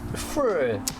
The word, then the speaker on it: Früh: The umlaut on there with the pronunciation, yeah. Früh.